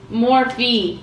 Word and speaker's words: Morphe: I think it's Morphe, yeah.